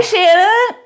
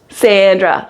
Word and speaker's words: Sandra: Hi, Shanna. How are you? Sandra, like sand on the beach.